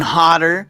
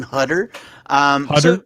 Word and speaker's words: Hodder: time alert 6 pm did i say his name right kane hodder some people say kane hutter you know what either way is right um he's tomato tomato